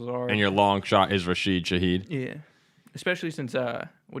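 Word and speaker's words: Rashid Shaheed: one that's a little little out there is rashed Shahed rash finally that this the first time that show's been that name's been pronounced right on this show I think ever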